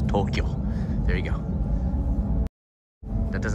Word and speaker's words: Tokyo: Two syllables, not Tokyo, two syllables, Tokyo.